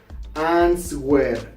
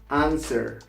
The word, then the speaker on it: answer: Another one, it's not pronounced answer. No, it's not correct to pronounce answer. This is a very common mistake in beginners, so you don't pronounce it answer. The correct pronunciation is answer.